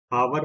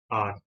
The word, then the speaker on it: hour: ध्यान दीजिए, यहाँ पे जो टर्म है इसकी स्पेलिंग है HOUR, बट इसमें H अल्फाबेट साइलेंट रहता है, इसलिए हम इसे हावर प्रोनाउंस नहीं करते, इसको हम प्रोनाउंस करते हैं आर।